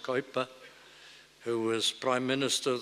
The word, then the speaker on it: Kuyper: said of the famous Abraham Kuyper who rightly pronounced coiba who was prime minister